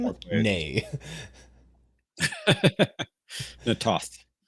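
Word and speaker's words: Na'Toth: Natoth is usually how you hear it.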